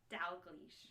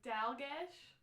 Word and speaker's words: Dalglish: Dalglish. Dalgish. Because I was like talking how to pronounce it. I was like Dalgish, Dagoosh. Yeah. No, it's Glish. Dalgas. Glish. Why does that Glish. It's very Scottish.